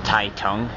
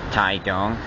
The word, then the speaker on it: Taitung: it says welcome to TA Tong but actually it's pronounced ta dong this is a city that is scorching the